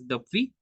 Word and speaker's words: depuis: après, before means ava, since, depuis, we pronounce as depuis.